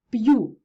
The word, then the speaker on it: п'ю: звернули увагу на вимову п'ю б'ється в'яз м'язи солов'їний ім'я зверніть увагу приголосні перед апострофом залишаються твердими б п м тощо друге правило ми будемо